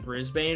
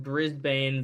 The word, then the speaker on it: Brisbane: Brisbane it's often pronounced Brisbane the trend is to eliminate extra vowels resulting in Brisbane it seems like it